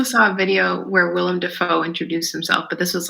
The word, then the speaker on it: Dafoe: I also saw a video where Willem Dafoe introduced himself, but this was like an old video in like the 70s. And he said, William Dafoe. No, it's Dafoe.